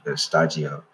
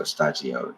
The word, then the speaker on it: Shtajio: the Japanese pronunciation was stagio, and I just put it together. So stagio, it's like it's like a Japanese word and studio mixed together.